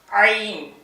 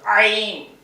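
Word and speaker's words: ع: அடித்தொண்டில இருந்து படிக்கணும். ஐன் கைய வச்சு இந்த அடி தொண்டை தொண்டை குளியில அழுத்தினா அது சவுண்ட் வந்துடும் ஐன் ஐன் ஐன் இதெல்லாம் உங்களுக்கு சில உச்சரிப்புகள் தெரியாத ஆளு கொஞ்சம் கஷ்டமா இருக்கும்.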